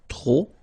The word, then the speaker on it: trop: Remember, too many, trop, don't pronounce the final P, trop, de, and the noun without the article.